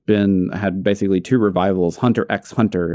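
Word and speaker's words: Hunter × Hunter: or anime that's been had basically two revivals hunter x hunter it's just hunter hunter it's not it's not everyone else everyone pronounces that x i said exactly but yeah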